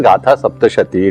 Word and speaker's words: Gatha Saptashati: In Sanskrit it should be pronounced as Gatha Saptashati.